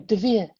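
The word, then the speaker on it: דְּבִיר: The Holy of Holies in Solomon's Temple, written in Hebrew, is pronounced Devir.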